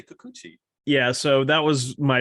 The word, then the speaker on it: Kikuchi: You say Kikuchi. I was about to mention him. I go, well, Sean, I say Kakachi, but you say Kikuchi.